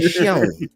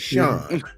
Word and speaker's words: Sean: The W silent, man, is Shawn, right? Shon. I can't stand it, bro. But anyway, I just realized he was pronouncing the W. That was Yeah, bro. The W is silent and Sean is not shown, right?